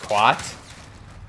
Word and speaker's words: khat: So in Mogadishu, there was this drug that they did called, I believe it's pronounced Khat, K-H-A-T.